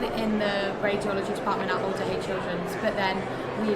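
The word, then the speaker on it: Alder Hey: I was saying to these guys before, I make such an effort to pronounce the H as well.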